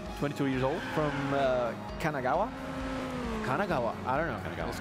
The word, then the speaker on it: Kanagawa: is a student 22 years old from uh Kanagawa Kanagawa I don't know is Kanagawa right right is I correct I said it